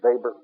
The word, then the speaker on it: Weber: Weber, the English pronunciation, Weber, the German.